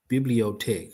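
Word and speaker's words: bibliothèque: Pronunciation. Let me get that first. Pro. There you go. Biblot tech. Bibliotech.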